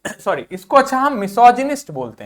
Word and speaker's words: misogynist: था, उस चक्कर में मैंने मिसोगाइनिस्ट बोल दिया। नहीं, इसको बोलेंगे मिसोजिनिस्ट। क्या बोलेंगे बच्चों? मिसोजिनिस्ट। क्या बोलेंगे? मेरे साथ में बोलो, मिसोजिनिस्ट। क्या बोलेंगे? मिसोजिनिस्ट। क्या बोलेंगे? मिसोजिनिस्ट।